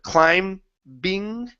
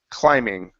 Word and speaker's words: climbing: Pronunciation, instead of climbing, it's climbing. Climbing. Yeah. Climbing. Okay. Climbing. Okay. No B sound.